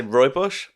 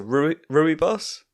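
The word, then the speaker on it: rooibos: have pronounced it differently i'm going to say roy bush is that center arf for uh some russian side what is that some some know it as a ruby boss oh okay okay uh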